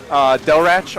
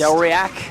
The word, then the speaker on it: Delrach: Delrach on Twitter. That's how it's actually pronounced. Delriac? Yeah, nope, that's definitely wrong.